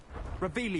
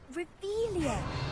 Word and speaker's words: Revelio: Revelius. You're saying it wrong. Ugh, Revelia. Much better.